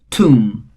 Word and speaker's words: tomb: And finally tomb. Again the last letter B is silent here.